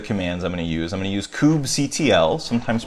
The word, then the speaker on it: kubectl: Docker as the commands I'm going to use kubectl, sometimes pronounced as kubectl, or lots of different ways to go through.